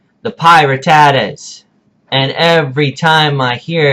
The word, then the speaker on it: Pirattatas: Not the Pirattatas, not the Pirattatas, pie, like you eat, ratatas, Pirattatas, the Pirattatas. Okay, if I hear another coach or another analyst, I'm looking at you, Tom and Danza.